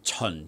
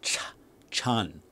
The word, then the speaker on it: Chun: was a non-starter but the word chun chun which means springtime is not cha chan the way most like americans say wing chun it's totally wrong all right the ch in cantonese is a lot sharper um your mouth is